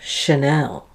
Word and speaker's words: Chanel: attraction initial musician delicious less common is when it's spelt with the letters CH in words of French origin like machine and champagne and of course the French designer Chanel and then there's the word